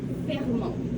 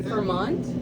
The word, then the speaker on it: Fermont: Fermont. Because in English we say Vermont. Yeah. But in French it's Fermont. Okay. Yeah. Fermont? Fermont. Okay. Yeah, it sounds weird, but it's like that.